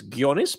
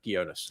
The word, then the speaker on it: Ghionis: Think of like a a G. This is I'm just going to give you an English lesson. A G and an H is a hard G. Ghost Ghana. Gonus. Oh, yeah. Okay. And being Australian Greek, it's Gonis, but I'll I'll let you say it the Anglo way.